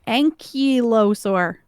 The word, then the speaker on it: ankylosaur: What I'm telling you how to say it. Look. Listen to me. Ankylosaur. Okay, that's probably right. I know it's right.